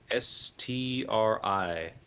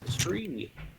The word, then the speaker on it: Stry: How do you spell it? S-T-R-Y? Stri. T-R-I. Stri.